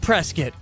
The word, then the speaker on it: Prescott: Arizona it may be spelled Prescott but we pronounce it Prescott absolutely it is Prescott and it will